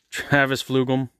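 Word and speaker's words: Travis Fulgham: Travis Flugel. That is how you pronounce the name.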